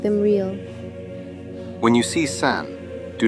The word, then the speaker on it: 三: It is pronounced san.